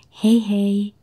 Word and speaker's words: hei hei: But when you say goodbye, you say hei hei.